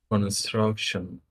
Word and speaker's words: construction: I disagree with you I think it's the middle syllable struck struck struck Construction